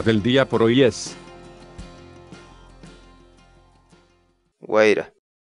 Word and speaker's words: wayra: de vídeos en la que te enseñamos a pronunciar algunas palabras en quechua así que nuestra palabra del día por hoy es wayra wayra guaira la palabra quechua era en español significa